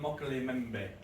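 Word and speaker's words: Mokele-mbembe: we go okay this is from central Africa mockery member is how you pronounce that meaning the one who stops the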